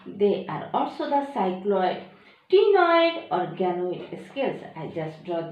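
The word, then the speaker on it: ctenoid: Second structure is the tenoid. C-T-E-N-O-I-D. Their pronunciation is the tenoid.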